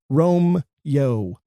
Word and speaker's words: Romeo: In all 3 of those instances, his name is pronounced Rome-yo.